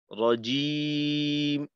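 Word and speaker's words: الرجيم: এটা যদি একারের দিকে চলে যায়, যেমন জিম, তখন কিন্তু এই উল্টা পথে চলে গেলাম আমরা, ভুল পথে। তো ই এর দিকে রাখতে হবে, রজিম, পেশের উচ্চারণ উ এর দিকে, জেরের উচ্চারণ ই।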